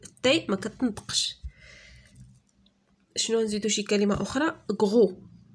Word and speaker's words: gros: macaques couches géologiques alimentera gros gros le s ne se prononce pas grossier joie glisse mines